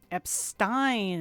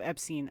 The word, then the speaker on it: Epstein: Luckily the British English uh luckily in British English the pronunciation is different. Epstein instead of Epstein. Okay. So it's Epstein.